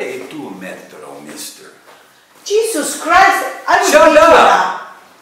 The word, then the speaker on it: metodo: Infatti, qual è il tuo metodo, mister? Jesus Christ, shut up! Repeat 10 times. Metodo. No, metro.